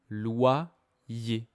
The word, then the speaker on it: loyer: La première c'est y comme dans loyer.